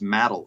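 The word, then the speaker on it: Madill: check okay because I I was saying Mill and Google told me no it's matal and so I said matal and all the locals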